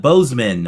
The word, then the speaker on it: Bozeman: Our guest today is Marvetta Boseman. Am I pronouncing that correctly?